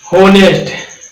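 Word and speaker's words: honest: लोग इसे क्या पढ़ेंगे ऑनेस्ट पढ़ेंगे जब ये क्या इसमें ऐप्स साइलेंट होता है क्या होता है ह साइलेंट आ इसको क्या पढ़ते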